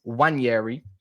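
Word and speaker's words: Nwaneri: high and dry, and I've been told it's Wanyeri is how you say his name.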